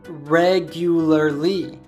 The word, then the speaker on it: regularly: regularly by the way how would you pronounce this word you probably said regularly while there is nothing wrong with this pronunciation natives often shorten this word as Conan did here President Barack Obama and